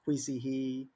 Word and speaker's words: Kui He: Tag myself, Kuixihe, which is pronounced Kuisihe, depending if you're American or not, because my name in Chinese is totally different.